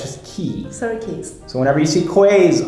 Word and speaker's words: Surrey Quays: So if I were to read this, I would say Surrey Quays. Surrey Quays. Quays? Oh, I don't know what Cute, right? Quays. Okay, again, I think it's French. Okay, that is pronounced key.